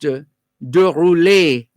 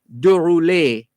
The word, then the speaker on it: de Roulet: vanson and his surname d-e-r-o-u-l-e-t would actually be pronounced de rouley de rouley de roulet so vincent de roulet was declared persona non-grata this is u.s ambassador to jamaica 1973.